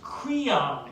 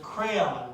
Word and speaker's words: Creon: learning this play um my teacher pronounced the king's name as creon instead of crayon but this production uses crayon so that's what i'm using senators our country like